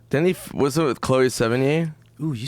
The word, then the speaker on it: Sevigny: Then was it with Chloe Sevigny? Ooh, you said it perfect. I've never said it right ever. I'm very theatrical, Joe. You are, dude. Sevigny.